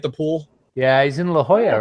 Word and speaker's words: La Jolla: shop everybody at the pool yeah he's in La Jolla right oh yeah thank you oh la la yeah a lot of people mispronounce in the collage hola yeah it met me they assume it's named